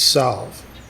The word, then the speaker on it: salve: are the l pronounced it depends on if you're if you're from southwest it's salve out here it's sad it's saf okay but s-a-l-v-e right yeah